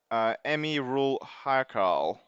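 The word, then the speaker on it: Amirul Haikal: It's pronounced Emi Rul Haikal. Okay, that's how you pronounce his name. Okay, so I butchered it completely.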